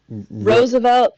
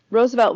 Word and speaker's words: Roosevelt: Um, so yeah, that is really crazy that um Roosevelt's Am I still saying it wrong? Is it Roosevelt for Teddy? Oh, Rose.